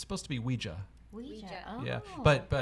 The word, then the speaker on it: Ouija: Because it's spelled Ouija. Uh-huh. That's how you say it. But I feel like most Americans say Ouija, Ouija. Uh-huh. like it's spelled IE.